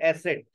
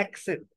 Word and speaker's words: accent: जैसे एसेंट, अक्सर बच्चे बोलते हैं एसेंट इंप्रूव करना है। एक्सेंट, अक्सर लोग बोलते हैं एसेंस, एक्सेंस।